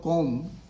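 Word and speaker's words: comb: Here B is silent. In place of com, say com.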